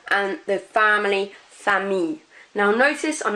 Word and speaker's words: famille: So fille rather than fille, famille rather than famille, and gentil rather than gentille. We are not pronouncing those L's outright. So that I-double-L-E is more of an E sound rather than an il.